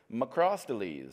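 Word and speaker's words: Macrosteles: little Vector this is maell quadrilineatus perhaps I'm saying that wrong last time I sat down and had a drink with a taxonomist they said well you should be pronouncing it macres and so I don't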